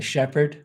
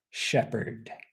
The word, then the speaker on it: shepherd: sheep farmer but a Shepherd will usually stay with the Sheep okay shepherd shepherd so again be careful with the pronunciation that H in the middle in this case is silent so Shepherd shepher bird